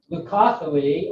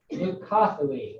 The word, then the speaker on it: Leucothoe: Leucothoe or dog hobble. This is pronounced leucothoe. That's kind of a diphthong. It's not leucotho or leucothoe. It's leucothoe.